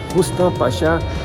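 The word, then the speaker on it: Rüstem Paşa: A mesquita de Rustam Pasha, a pronúncia é Rustam Pasha, ela tem cada azulejo trabalhado, então é considerado obra de arte.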